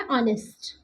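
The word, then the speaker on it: honest: Vowel का sound है आ honour है आवर सॉरी आवर ठीक है और ये क्या है ऑनेस्ट आवर एंड ऑनेस्ट इसमें हम एच को साइलेंट मानते हैं।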